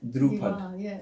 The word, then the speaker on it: Dhrupad: But yeah, so I was interested about the musical is it practice of Dhrupad? Am I saying it right? So that's Dhrupad.